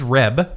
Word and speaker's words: Reb: Yes, his name is Reb, not Rob.